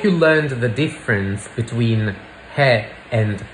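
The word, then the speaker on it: है: is in Hindi and Udu you just say he and if you want to make it plural you just pronounce it with a nasal vowel hang pay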